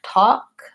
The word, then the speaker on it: talk: and is central vowel the L is silent so it sounds like talk and walk so those are the